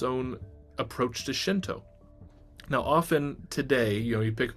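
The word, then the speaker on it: 神道: The earlier pronunciation could be Jindo, not Shinto.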